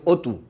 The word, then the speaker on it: অতি: প্রথম আনসার করেছে আবু আইয়ুব অতু, আবু আইয়ুব অপু, সে প্রথম আনসার করেছে। আরো অনেকেই আনসার করতেছেন যে অতি, অতর মধ্যে কিন্তু সংবৃত হয় নাই, সংবৃত হচ্ছে কোথায়? ও হয়েছে যেটা অতি।